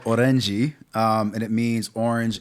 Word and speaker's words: Orenjii: I don't want to mispronounce. The album's called Orenji.